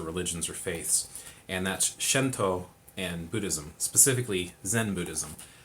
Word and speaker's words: Shinto: or spirituality now you'll notice here i'm saying shento it's because phonically the romanisized version of japanese eyes are pronounced kind of like ease so it's just